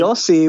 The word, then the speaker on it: Yossi: And you mentioned, is his name pronounced Yossi? Am I saying that right? Yeah. So in projects, a lot of the projects you do, and certainly Yossi was lovely because Yossi, I am not married to him.